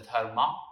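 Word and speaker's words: धर्म: So my suggestion is either use a different word such as dharam, or commonly pronounced as dharma as well, but dharam in Sanskrit, which is a Sanskrit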